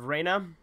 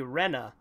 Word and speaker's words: Rena: there's the character of Reyna her name is technically Rena and Reyna was her original name but I always say